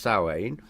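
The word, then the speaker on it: Samhain: like Halloween which is spelled Sam Hayne but pronounced sain so that was kind you know the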